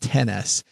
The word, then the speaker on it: XS: I think they want that pronounced 10S.